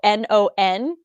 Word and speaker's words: non: aren't spoken in French, no is spelled N-O-N, but it's spoken no. So it's spelled non, and it said no, and it's like, why is there an N?